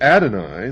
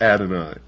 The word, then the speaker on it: Adonai: not God, would Adonai, the God of the Christians and the Jews,